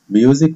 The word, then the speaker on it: music: Music, موسيقى. ال S بتنطق Z عشان بين حرفين متحركين اللي هو ال U وال I, وال C بتنطق K.